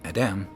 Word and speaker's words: Adam: And here you see, to say his name, Adam, you just put a default A in between the Dalet and the Mem, because the Dalet and